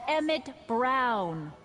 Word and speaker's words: Emmett Brown: That's Emmett Brown. Rhymes with clown, which I'm beginning to think you are.